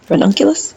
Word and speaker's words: ranunculus: I'm going to plant ronculus ronculus yeah that's how you say it ronculus so I'm